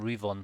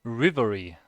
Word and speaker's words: Rivery: It's not even Rivon. Sorry, I am reading your name wrong the whole time. Rivery.